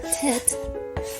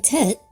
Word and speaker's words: Tet: I'll take 10. Our final letter for today, called tet, was drawn as a basket in both early and Middle Ancient Hebrew.